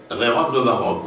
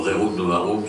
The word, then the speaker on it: Rerum Novarum: de l'Église universelle depuis Rerum Novarum, ou Rerum Novarum selon les prononciations que l'on veut donner, de Léon XIII en 1891.